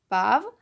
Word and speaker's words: पाँव: पाव, पाँव, एक में चंद्रबिंदु है और एक में नहीं है।